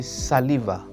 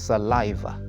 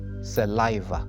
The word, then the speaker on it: saliva: word many people say saliva or saliva but the correct pronunciation is saliva saliva with emphasis on the second syllable it's one of those